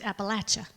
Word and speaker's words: Appalachia: It's pronounced Appalachia.